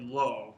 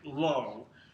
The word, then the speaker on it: לֹא: negation so we'll talk about the the word low which is more common than all the first thing to know is how it's spelled the negative particle low is spelled lamid